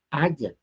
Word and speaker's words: haya: Pues cuando haiga un material, digo, no es que no se de primera no se dice haiga, se dice haya.